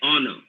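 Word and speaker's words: honour: the first one uh horner they say don't pronounce h he's silent oh no simply say honor this is my honor to be present here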